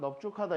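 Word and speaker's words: 넓죽하다: 자, 넙둥글다랑 넙죽하다 이렇게 두 단어에서만 비읍으로 발음된다고 했어.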